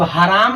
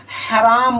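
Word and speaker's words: حرام: तो हराम ना बोल रहे हैं हम, हराम बोल रहे हैं। जब आप सही तरीके से सुनेंगे तो आपको प्रोनाउंसिएशन सही तरीके से आ जाएगा। जब आ जाएगा और साउंड ही पता चल जाएगा छोटी हा है कि बड़ी हा, तो आप इमला लिखने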